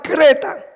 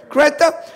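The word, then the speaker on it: Greta: De hecho, hay una famosa jovencita, que se llama Creta, así yo lo pronuncio en español, sería más o menos Creta, Creta Thunberg, de 18 años, por ahí más o menos, apenas.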